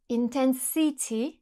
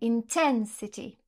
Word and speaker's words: intensity: Par exemple, si je dis intensity, vous allez me dire non, c'est faux, c'est intensity.